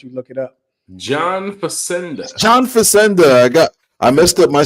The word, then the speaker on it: Facenda: John Facenda. I messed up my syllables and got my vowels mixed up. Yes. Yeah. John Facenda.